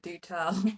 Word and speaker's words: Doutelle: is Do Tell, and it's spelt in such a beautiful way. It's like Doutelle. So it looks like this like posh French name, but then when you actually say it, Do Tell, Do Tell, Do Tell, Do Tell, like Do Tell.